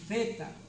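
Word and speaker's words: θ: Santo esse pleto esse feta você pronuncia assim aquele th do inglês que fala thank you I think eu penso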